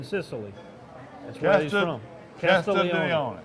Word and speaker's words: Castiglione: G-L-I. G is silent. The G- Casti? Castiglione.